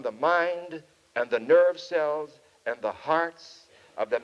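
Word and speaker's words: Selye: I never know how to pronounce it. Some say Cells and some say Sally. I've heard different pronunciations of that name, but we'll say Cells for the sake of convenience.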